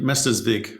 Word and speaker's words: Mestersvig: Mestersvig, that's how we pronounce it.